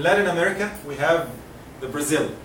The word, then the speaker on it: Brazil: In English it should be Brazil. Look to this. Brazil. Ba, there is nothing. It's not ba, not bu, not b. It is what? Brazil.